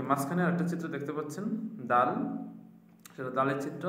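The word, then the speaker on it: دال: তো দালটা দালের উচ্চারণের স্থানটা আমরা শিখে নেই। জিহবার আগা সামনের উপরের দুই দাঁতের গোড়ার সঙ্গে লাগা।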